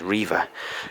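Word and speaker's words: Rievaulx: um what's it called Riva I think it's Riva Abby but it's got an x on the end it's kind of weird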